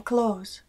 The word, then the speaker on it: clothes: En el inglés americano, lo más común es no pronunciar la TH en close, resultando en la misma pronunciación que el verbo to close, que significa cerrar.